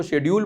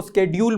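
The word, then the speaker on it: schedule: कुछ टीचर्स कहते हैं इसको शेड्यूल बोलो, कुछ कहते हैं इसको स्केड्यूल बोलो।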